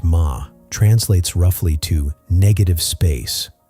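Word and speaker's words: 間: The Japanese concept of ma, pronounced ma, translates roughly to negative space or pause.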